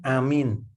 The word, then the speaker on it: aamiin: Ditulislah Amin itu A-M-I-N, Amin. Betul nggak tulisannya itu? Salah. Yang betul itu A-A-M-I-I-N. Begitu ya tulisannya ya. A-nya panjang, Mi-nya panjang. Jadi bacanya Amin gitu ya.